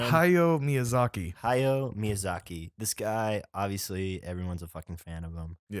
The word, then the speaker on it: Hayao Miyazaki: hi what did we decide how do you pronounce the director's name hi yo miyazaki hayao miyazaki this guy obviously everyone's a